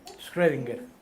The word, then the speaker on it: Schrödinger: Piensen ¿Cómo se en pronuncia, profesor? Schrödinger.